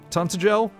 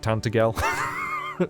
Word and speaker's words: Tantegel: Tantegel? Ever heard of it? Still can't believe that's how you pronounce it. For years I said Tantegel. Which sounds dumb, really, in hindsight.